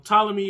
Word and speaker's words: Ptolemy: see this show um ptolemy is spelled with a p